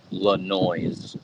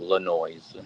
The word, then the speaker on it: Lanois: Neil would always call uh Dan LeNoise instead of Lanois. Yeah, Lanois Lanois is real name and then he Yeah. And everybody would get it mixed up cuz they didn't know it's the French pronunciation or whatever.